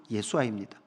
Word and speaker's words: 여호수아: 이 여호수아는 발음은 예수아입니다.